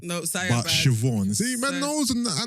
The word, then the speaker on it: Siobhan: Not Sioban. No, Sioban. But Siobhan. See, man knows, and I know the pronunciations.